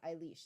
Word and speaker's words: Eilish: Eilish. Happy birthday, she says. Eilish is how you pronounce my name. Thank you, Eilish.